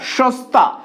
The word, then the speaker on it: সস্তা: সস্তা, আমরা লিখছি এই বানানটা কিন্তু বলছি এটা সস্তা।